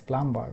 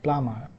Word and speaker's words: plumber: So we pronounce it as plumbar but that's incorrect. So this doubt this word if you uh look at here so we have a B that is silent in Bangladesh we pronounce